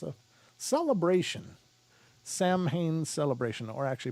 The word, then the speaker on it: Samhain: a parathon but it's uh it's a celebration samhain celebration or actually pronounced seween but anyway it's a celebration of sorts so